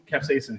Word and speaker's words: capsaicin: And you were saying what is the how do you pronounce the capsaicin?